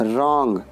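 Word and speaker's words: wrong: ओ एन जी ओ रॉन्ग गलत इस में डब्लू साइलेंट है डब्ल्यू आर जे पी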